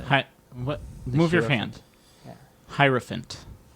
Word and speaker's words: hierophant: do you spell it h-i-i-r-o and then like elephant like p-h-a-n-t a person especially a